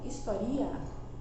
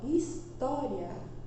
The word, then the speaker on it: história: Por exemplo, a palavra história, eu não falo historia, nem falo história, eu falo história.